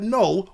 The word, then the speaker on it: Knull: you already know that null went with option two because that's what the silent k in null stands for it stands for keeping it real man and so null got